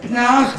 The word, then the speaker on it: Pinar: édification à tous, son prénom se dit Pnard, s'écrit Pinard, mais on va faire l'effort de prononcer Pnard comme pneu.